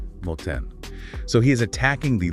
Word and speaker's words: 盲点: And the pronunciation guide for that is moten.